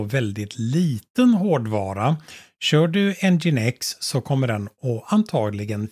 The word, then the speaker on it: nginx: lite mer om webserver engine x ngin x som det uttalas men eller som det stavas men det uttalas engine X en väldigt kraftfull